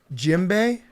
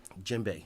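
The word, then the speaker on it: djembe: Jimbe. Jimbe. Okay. DJ it's spelled DJ.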